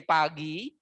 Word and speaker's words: pagi: It's called by, in the morning, we say pagi. pagi, or always 2 syllable, pagi.